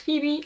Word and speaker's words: Pheby: The last book I read this summer was Mordew by Alex Pheby. I have learned now that the name is pronounced Pheby and not Pheby after I googled it.